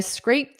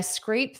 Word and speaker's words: scraped: So, this ed is pronounced as a soft t. Scraped. Scraped. But because we have this through, because we have the th here, you're not going to hear it very well.